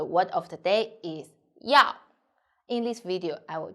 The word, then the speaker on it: 要: i'm sunny the word of the day is yao in this video i will teach you how to pronounce it how to write it and how